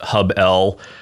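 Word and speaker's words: HubL: Yeah, so I'll start with probably the easiest to define, which is Hubble, sometimes pronounced Hub-L. Not really an acronym, just the first part of the word HubSpot followed by the letter L.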